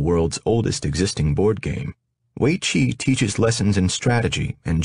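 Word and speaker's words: weiqi: lee strategies is in waichi pronounced weichi roughly meaning encircling game more commonly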